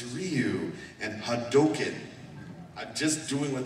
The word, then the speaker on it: Ryu: ryu it's like okay capcom hired me and they told me how it's pronounced it's ryu and hadoken just doing